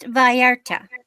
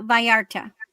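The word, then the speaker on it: Vallarta: It is pronounced Varta. Double L's or a Y. Have you ever heard of Puerto Varta? Um, it's a it's a place and so it's actually uh Viarta.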